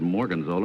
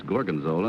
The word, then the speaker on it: gorgonzola: for number two but he mispronounced the name he said Morgan's old and it's gorgonzola and number three of